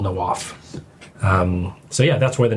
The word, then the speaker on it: Nawaf: So it's the actual Arabic pronunciation is Nawaf. But it's the easier way to say it's Nawaf.